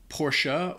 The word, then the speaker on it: Porsche: there number nine Porsche so in the US a lot of people either say Porsche or even shorten it and say Porsche but apparently the the company even made a video as to how pronounce this a while back PA posha posha posha posha I think in